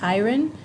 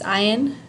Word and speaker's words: iron: a lot of people think that this is pronounced ayran they think of Ironman and they say is Iran man Iren man it's not it's it's Iron Man in English we say hi in month